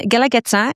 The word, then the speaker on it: Guelaguetza: I mean how do you even pronounce it right? And galageta it's a word in sapoteco and galageta means reciprocity.